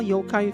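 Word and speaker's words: Yōkai: Why do they spell Yokai with a U? They are It is supposed to have a U because the O is a long O.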